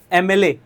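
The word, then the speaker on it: MLA: एमएलए जो start हो रहा है, एमएलए का प्रोनाउंसिएशन देखिए। एमएलए ठीक है? स्टार्टिंग जो हो रही है, वह किससे हो रही है? एमएलए की ए से हो रही।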